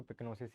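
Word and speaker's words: pyknosis: ठीक है, पिक्नोसिस, ये वाई साइलेंट है, ठीक है ना, इसलिए इसको पिक्नोसिस ही पढ़ते हैं।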